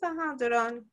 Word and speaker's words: Duron: Is that how it's pronounced, Duron? Yes, Duron.